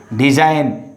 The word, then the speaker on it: design: Design, G is understood or G is silent.